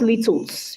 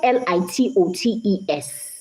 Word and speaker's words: litotes: Not littles. It's spelled Litotes, but it's pronounced litotes.